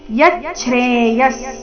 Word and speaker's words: ಯಚ್ಛ್ರೇಯಃ: ಚೇತಾಹ ಯಕ್ಷೇಯಸ್ಯಾ ನಿಶ್ಚಿತಂ ಬ್ರೂಹಿತನ್ಮೇ ಯಚ್ಚ್ರೇಯಸ್ ಇಲ್ಲಿ ಯಚ್ಚ್ರೆ ಯ ನಂತರ ಅರ್ಧ ಚ ಇದೆ ಇದೆ ಮುಂದೆ ಛ್ರೆ ಇದೆ ಯಚ್ಚೇಯಸ್ ವಿಸರ್ಗದ ಉಚ್ಚಾರಣೆ ಅರ್ಧ ಸ ರೀತಿ ಯಚ್ಚ್ರೇ ಯಸ್ಯಾನ್ ನಿಶ್ಚಿತಂ ಸ್ಯಾನ್